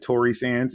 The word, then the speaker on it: Torresanz: They can find me at Tory Sands, and it's spelled TORRESANZ, like zebra.